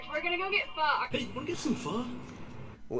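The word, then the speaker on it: phở: probably would also say fo. Yes it is. So like, yeah, it is actually more correctly pronounced fur, but f but I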